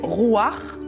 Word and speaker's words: Ruach: on était à Jérusalem on avait une manière de prononcer ça là et on nous a dit Aï on prononce pas ça comme ça donc on dit rouir en fait en hébreu